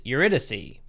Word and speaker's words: Eurydice: ] i just found out that i've been pronouncing the name of the restaurant wrong because it has a very pretentious name it's eurydice very fancy the head chef that works at